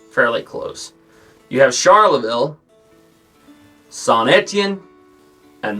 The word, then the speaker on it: Saint-Étienne: have heard me refer to some place as Saint Etienne or Antien or something like that. I pronounced it weird back in the day. That's Saint-Étienne, and then the other one, you may have heard me pronounce it as Maubeuge.